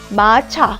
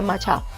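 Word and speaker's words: 마차: syllable is the same look at this word matcha which means carriage i pronounce a hard ch I don't say macha I say matcha ch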